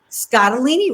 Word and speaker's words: Scottoline: of your last name scottalini rhymes with fettuccine that's what my dad